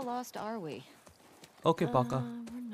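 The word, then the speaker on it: пока: 34 easy bro get on my level oh pronounced as Paka okay so how lost are we okay Paka we're not uhhuh hey have a little faith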